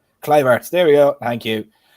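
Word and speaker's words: Kluivert: atoms their new CDM and then we have clue of art as well I think I butchering the pronunciation cliver there we go thank you um for giving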